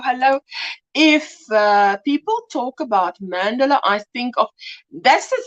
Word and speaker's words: mandala: But it's a mandala. So there you go. So I just say it like that now. Then it definitely doesn't sound close to Mandela.